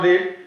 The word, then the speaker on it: read: আমি আগেই বলেছি যে এটা আমি ইচ্ছা করি ভুল উচ্চারণটা করলাম রিড, কিন্তু আসলে এটা উচ্চারণ রিড না, এখানে এটার উচ্চারণ হচ্ছে রেড।